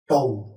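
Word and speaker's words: τ: is represented by letter tau yes it is pronounced as tone okay now let's find out the torque experienced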